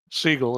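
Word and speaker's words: Sigel: Seagull. It's pronounced.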